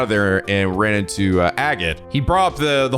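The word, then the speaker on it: Agate: it helps to remember his name's agot rhymes with maggot genuinely tough and not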